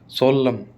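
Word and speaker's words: solemn: कभी भी एम एन आ जाए ना तो एन साइलेंट रहेगा, एम ही बोला जाएगा।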